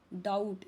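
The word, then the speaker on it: doubt: डाउट यहां पे B silent है।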